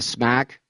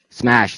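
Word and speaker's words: SMACH: And uh Smack, am I pronouncing that correctly? Smash. Smash. Thank you.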